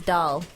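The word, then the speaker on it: Dahl: or her first name last name is doll d8 h l um road or what was that road da no well doll yeah sounds like road hog anyway um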